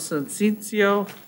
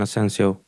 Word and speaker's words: Asensio: not say that well how do you say your name sir dan the owner all right so it's and then it's hyphen sensation it's and then asensio okay great but i